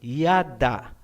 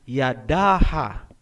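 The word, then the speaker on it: ידה: Kung wala nang susunod na syllable pagkatapos ng last letter, hindi na po bibigkasin ang tunog na A. Gaya halimbawa ng salitang yada. Ang ibig sabihin niyan ay praise o pagpupuri. Hindi po binabasa na Yadaha.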